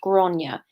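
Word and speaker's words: Gráinne: art art world and it's pronounced granya if I'm pronouncing that wrong I do apologize but as I understand it with that time my friend and very funny comedian granya mcguire pronounces it so that's the pronunciation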